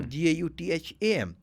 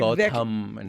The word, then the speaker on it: Gautham: So I don't have to add the H when I'm pronouncing. I don't have to Gautham.